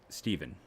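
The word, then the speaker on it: Stephan: side of things uh i keep saying stefan it's steven right trevor steven not stefan uh pronunciation i feel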